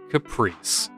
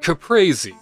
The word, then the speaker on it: caprese: in fact the mozzarella caprice and if i were italian i would pronounce it caprese apparently caprese is uh how you would say this particular appetizer this particular dish but the fiore de